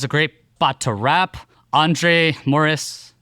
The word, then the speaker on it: André Morys: André Morys. No, I didn't do the André Morys. Yeah, that's French. Très français. That's French. Très français. André Morys. Yeah, you can pronounce it like that if you like.